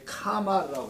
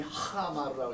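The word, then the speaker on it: חמר: 한데 발음이 하마르라고 해서 그냥 제가 카라고 썼는데 원래는 하예요. 하마르라고 합니다.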